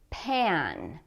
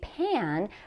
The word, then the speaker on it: pan: Pan. Now be careful, when we say pan, we need to make the ah sound with the mouth quite open.